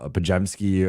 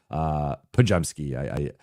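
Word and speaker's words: Podziemski: able to guard a Pajemski or a Moody or Pajemski. Everyone mispronounces his name, so I like saying it the correct way.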